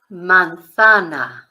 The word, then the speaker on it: manzana: Spanish it's La Manana now Manana if you in Spain because in Spain The Zed is a th sound but if you were